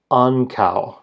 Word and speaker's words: ankaŭ: Ki ki the word for also or to like I love you too or I'm going as well that word is pronounced ana ana the word for neutral T contains that rare O dip thong.